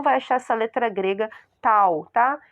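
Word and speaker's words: tau: vocês estão vendo aí é a letra grega T que se pronuncia tal tá mas eh nós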